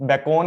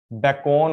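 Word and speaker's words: Bacon: तो बेकॉन ऐसे नहीं पढ़ता, बेकॉन ऐसे पढ़ता है। एक तो ये नाम था फ्रेंसिस, बेकॉन होता है, बेकॉन, बेकैन नहीं।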